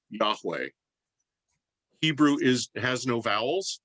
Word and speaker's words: Yahweh: y h w h which has come to be pronounced in in the 20th century as yahweh hebrew is has no